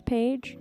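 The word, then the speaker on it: Phaige: correcting my grammar but my family has always pronounced my middle name as paig without the pH so so whenever I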